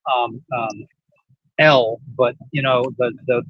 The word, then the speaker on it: El: It It's It's It's pronounced um um El, but you know, the the the word Elai in Hebrew means fallen angel.